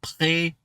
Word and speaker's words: prêt: On est prêt pour partir en vacances. Oh, just two things. I think I heard a T right there. Prêt. Don't pronounce it.